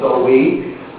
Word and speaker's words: Samhain: Halloween actually has a which is, so it's originally named Samhain, it's spelled Samhain, but pronounced Samhain.